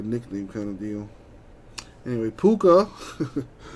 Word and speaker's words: Puka: kind of deal anyway puka uh rhymes with hookah he goes to the